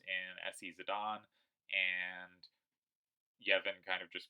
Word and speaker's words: Zidane: zadane it's funny I I say Zinedine zadon because that's how it's pronounced but because as a kid it was zidane to me for ff9 I say that zidane those to me are two different names so he wins SC